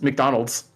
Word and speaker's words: McDonald's: students in Japan that the actual pronunciation of the restaurant that they call makudonarudo is McDonald's oh oh mind blown